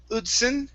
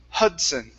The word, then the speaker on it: Hudson: to the word hudson instead of udzin it's ha hudson okay there you go